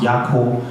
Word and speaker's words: Yako: But most in Swahili, that's how it's pronounced, Yako.